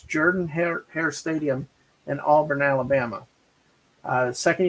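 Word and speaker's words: Jordan-Hare: is that is pronounced jordan hare stadium i don't know how why an o is pronounced like a u but it's jordan hare in auburn alabama uh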